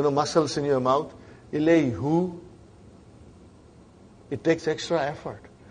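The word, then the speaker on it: إلى: Right now, we say ila. It's pronounced as alif.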